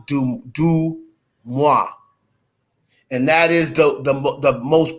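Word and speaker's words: DeuxMoi: of the way I'm pronouncing it, but it's pronounced Dumois.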